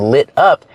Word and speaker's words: lit up: We hear the pronunciation of the T in lit up. It sounds like a fast D. Lit up. Da-da-da, lit up.